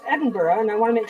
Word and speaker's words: Edinburgh: said it right because for most of my life I would say Edinburg and then somebody told me that it was Edinburgh and I want to